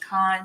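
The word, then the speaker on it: Caan: i started reading mj i think it's pronounced khan c-a-a-n and it's called hex over 40.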